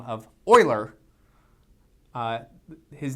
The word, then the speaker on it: Euler: So this is named after a very famous mathematician by the name of Oiler. Uh his name is written like you would want to pronounce it uler but it's it is pronounced oiler.